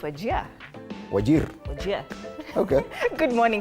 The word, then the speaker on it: Wajir: So how do you pronounce wajir? It's wajia.